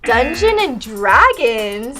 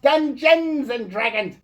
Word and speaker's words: Dungeons and Dragons: I know no clue dungeon and Dragons It's pronounced Dungeons and Dragons there's an s u illiterate fool like